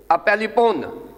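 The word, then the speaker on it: ἀπέλιπον: ये अपेलिपोन, ये इसका सही प्रोनाउंसिएशन है, अपेलिपोन।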